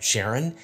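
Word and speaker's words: Charon: to have concerns about the way I say Sharon and I just want to let you know that I got that pronunciation from Alan Stern who is the principal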